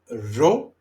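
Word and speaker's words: ρο: P then we have the letter ro ra ro ra ro ro ra ro it's more like the spa not I wouldn't say like the Spanish but is you have to uh roll a little bit your ars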